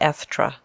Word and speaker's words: Estra: You may call me Estra, said he, pronouncing it Estra.